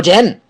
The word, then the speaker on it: denn: Okay, so then from there, Krokodil comes to the question, wo denn? Wo denn? This den is like then in English, okay?